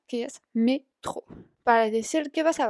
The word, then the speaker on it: métro: De ahí, como ya lo habrán visto, la palabra metro en francés se dice igual, pero se pronuncia a la manera francesa, que es métro.